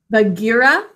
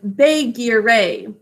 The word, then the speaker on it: Bagheera: The GH together making a G sound. Bagheera. Sound it out with me, please. As Bagheera, because there's 2 A's in an open syllable. Bagheera, 3 syllables.